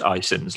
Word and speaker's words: iCIMS: as, or abbreviated, well, it's pronounced iCIMS, let's say, but it's ICIMS.